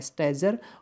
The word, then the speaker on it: stager: स्टैगर का एक और वर्ड होता है, सेम स्पेलिंग होती है, STAGER, सिंगल जी होता है, बट यहाँ पर इसका प्रोनाउंसिएशन जा होता है, स्टैजर। और यहाँ पर जो ये है स्टैगर है, ये गर है और ये जर है, ध्यान दीजिएगा। इस स्टैजर का मतलब मैं